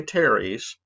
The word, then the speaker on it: teres: The pronator teres, make sure you say teres, which means earth, by the way, because there's also a pronator quadratus down here.